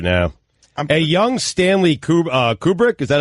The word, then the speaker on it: Kubrick: that went crazy doing Clockwork Orange and a Kubrick and Stanley Shining. Kubrick. The Shining. Hold on a minute. The Shining, and I'm thinking, who did Deer Hunter? I'll check it out right now. A young Stanley Kubrick, is that how you say it?